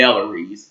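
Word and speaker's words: Bellarie: and stuff called the Bellarys. Again, that is pronounced Bellary. Bellary. Bellary.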